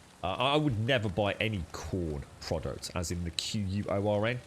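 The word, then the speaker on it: Quorn: his wife basically uh picked up um some corn sausage rolls by accident at the supermarket last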